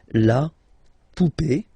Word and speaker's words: poupée: and then here, okay, remember this final is not pronounced, so you will have this e, remember accent aigu, it's e sound, okay, la poupée, the doll, l'arrivée, the